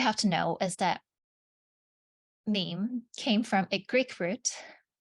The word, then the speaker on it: meme: to know is that meme came from a Greek root it's a monosyllable that sounds a bit like a gene and then he said